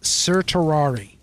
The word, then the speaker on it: certiorari: serturari and I know I probably mincemeat the pronunciation of that spelled c-e-r-t-i-o-r-a-r-i a writ of sertarari now what this is is this is an